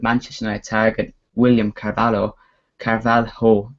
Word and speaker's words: Carvalho: United Target William carvalo Carvalho that's your pronounced I think as Louis vanal looks